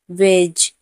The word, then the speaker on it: wedge: वेज, WEDGE, जी से पहले डी है तो डी को हम नहीं उच्चारण करेंगे।